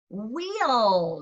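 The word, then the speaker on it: we'll: Wheel, not like a wheel on your car. That's spelled differently. Pronounced the same though.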